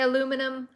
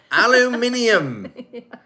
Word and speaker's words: aluminum: a chichi a wise guy anyway we say aluminum aluminum aluminium but both are correct oh my goodness i'm